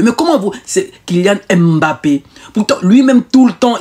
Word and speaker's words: Mbappé: Kylian Mbappé, Francis Ngannou, Cédric Ndoumbe, Emiliano Nzue, Sissoko Ndiaye.